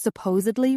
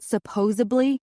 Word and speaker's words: supposedly: You know it's pronounced supposedly, right? Not supposedly.